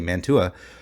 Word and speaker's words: Mantua: Solomon Rossi's family would have been one of those families that remained, and Mantua, I think is how you pronounce the name of the city in Italy, Mantua, would be one of